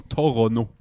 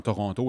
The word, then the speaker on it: Toronto: La langue anglaise, tu vas bien prononcer où le mot est on dit en anglais stressé où l'accent est dans le mot. L'accent dans Toronto est dans le premier tau Toronto.